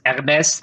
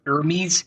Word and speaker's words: Hermès: So here in Europe, it's Hermès en français. It's Hermes in English.